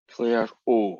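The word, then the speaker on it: Clairaut: There is a French guy called Claire O. How do you spell Claire O? I think you spell it with a French A-U-X.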